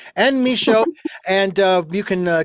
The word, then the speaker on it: Michaud: not it is an misho and that's a-n-n-e-m-i-c-h-a-u-d the D is silent folks and misho and uh you can